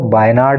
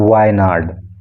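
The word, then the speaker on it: വയനാട്: ये बायनाड, इसको आपको बायनाड नहीं बोलना है, इसको बोलना है वायनाड, वायनाड, ठीक है।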